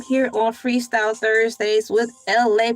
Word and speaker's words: ELAY: on Freestyle Thursdays with LA, pronounced like LA like the city.